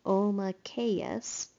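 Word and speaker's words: Omakayas: The name is pronounced Omakeus.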